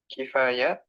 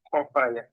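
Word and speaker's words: خفايا: Al-muttali'u ala khifayal umuri wa khibayas suduri, Saya, alladhi oh, kifaya kifaya Kofaya, as-suduri, alladhi ahata bi Kofaya, kulli syai'in ilma. Kofaya sama Khobaya, bukan fi. Oh, khofaya. Afwan.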